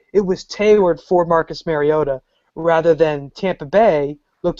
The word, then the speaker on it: Mariota: gonna go with uh number two overall pick Marcus Mariota as I read today that's the correct pronunciation four touchdowns granted he's playing Tennessee but